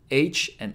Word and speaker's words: は: Ha is pronounced like ha in ha ha ha, like laughing.